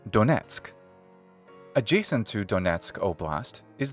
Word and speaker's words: Donetsk: by the same name in English we say Donetsk adjacent to donatsuk oblast is the region lujansk